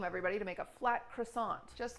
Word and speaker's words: croissant: Oh, are you here because we've been saying croissant? Yeah, you're saying wrong. Croissant. No. Jesus Christ. How do you say it? Croissant. Croissant. C'est croissant. Croissant. Croissant.